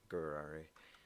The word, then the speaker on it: Gurari: It's pronounced like Ferrari, but with a G, so Gurari.